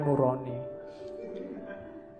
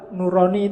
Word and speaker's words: nurani: Yo, kalau bahasa jawo kan bacanya o. Jadinya nuroni atau bahasa Arab. Kalau bahasa Arab nurani itu bagus.